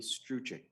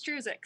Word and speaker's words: Struzik: It's Struzik, so you're very close.